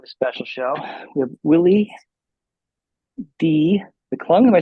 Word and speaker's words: Willie D McClung: We have Willie D McClung.